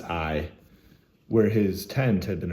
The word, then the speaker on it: Ai: How do you pronounce this? It's pronounced Ai.